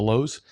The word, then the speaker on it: Louhs: on our youtube channel which again is the lowes it's spelled quite uniquely it's l-o-u-h-s that's the lowes and if you're also